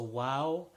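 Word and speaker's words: و: the Wow properly so wow it has a sound like a W in English and not AV sounds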